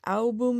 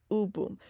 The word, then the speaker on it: AouBoom: Now, I may have referred to them as album in the past, and I just want to say sorry for that because I didn't realize that I was pronouncing U wrong. And it is, in fact, U Boom.